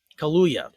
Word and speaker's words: Kaluuya: Daniel Kaluuya, I can never say his name. Kaluuya, that's it.